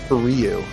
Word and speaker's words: Ryu: This one is Ryu's theme from Street Fighter. Oh, is it? Yeah. Wow, he was my boy too. Ken and Ryu, yeah. Is it Ryu or Ryu? Ryu is definitely the correct way.